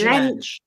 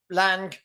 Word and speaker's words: Lange: We say Lange because it rhymes with Ange, but apparently it's Lange.